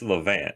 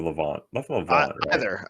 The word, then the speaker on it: Levant: so is it well it's levant or levant either is acceptable just like leonidas and leonardo both both are fine no i i mean i've i've heard it pronounced as levant more than levant i've just always said levant but i also say like aunt instead of ant yeah i think i